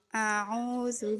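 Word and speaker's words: أعوذ: A'udzu billahi minasyaitonir rajim. Nah, Ibu Susi perhatikan. Ketika baca a'udzu, a itu harus hamzah. A. Jangan sampai bacanya kayak ain.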